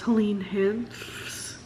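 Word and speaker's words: Helene Hanff: They're all the author's own letters, so it's Helene Hanks. Yep, that was how you pronounce that name.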